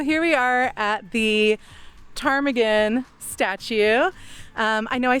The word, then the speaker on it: Ptarmigan: So, here we are at the Tarmaggan statue. Um, I know I said earlier that people couldn't spell or pronounce Tarmagan, so they called it chicken.